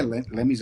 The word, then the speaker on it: Lemmy: My number 3 is Lenny Kilmister. I think I pronounced that correctly. Lemmy, yeah.